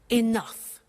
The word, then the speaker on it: enough: to concerts and exhibitions, but she doesn't have enough money? Now, this word enough, it's written E-N-O-U-G-H. The pronunciation is enough.